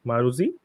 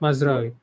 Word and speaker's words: Mazraoui: How do you pronounce the right back? Maruzi? What? Mazraoui.